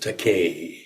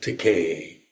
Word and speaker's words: Takei: It rhymes with Takei. Rhymes with Takei. Day may say gay. Oh, I get it. So that's why it's titled It Rhymes with Takei.